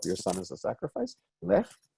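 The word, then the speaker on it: לֵךְ: Again, it's not Lech, like Lech Walesa from Poland. Oh my, I'm really dating myself. Anyway, his name was Wech, and not Lech, but Lech.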